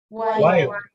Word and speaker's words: while: while. Me encanta. Tengan en cuenta eso, que hay una pequeña vocal antes de la L.